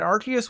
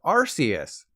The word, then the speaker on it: Arceus: When Arceus was first revealed, it was officially pronounced Arceus. But then the Pokemon Company realized that Arce means but in certain places of the world, so they changed it to Arceus.